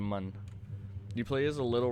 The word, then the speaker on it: Mun: into space and eventually the moon or as they pronounce it the mun you play as a